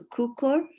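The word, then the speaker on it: Cukor: films which is the 1936 film by director kukor um I hope I'm pronouncing that right yeah yeah and uh yeah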